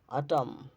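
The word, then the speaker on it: autumn: 36 নম্বর নিয়ম হচ্ছে যখন শব্দের শেষে এমএন থাকে শব্দের শেষে এমএন থাকলে এরপর কোন vowel I ই ও আই ও ইউ এ ই আই ও ইউ না থাকলে এন এর উচ্চারণ হয় না যেমন সলেম সলেম গুরু গম্ভীর হচ্ছে কনডেম কনডেম ড্যাম ড্যাম হাইম হাম আটাম এরকম শেষের এন উচ্চারিত হবে না আচ্ছা এম এন থাকলে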